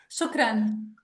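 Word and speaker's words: شكرا: joy how do you say in Arabic shukran shukran Yeah.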